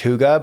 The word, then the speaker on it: hygge: and their like togetherness like they call it hygge it's spelled like h-y-g-e-e but pronounced hygge but it's about like together coziness and it's